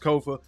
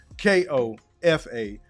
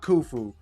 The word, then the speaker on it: Kofa: Once again, I am your humble host, Kofa, K-O-F-A, not, not kufu, not Kofi, or any variation thereof. Kofa rhymes with sofa.